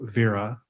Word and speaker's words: VERA: So what I want to talk to you about today is something we call VERA. That's how we pronounce it, V-E-R-A.